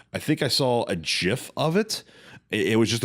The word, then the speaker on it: GIF: waving, because it was just a GIF or GIF, as some people mispronounce it.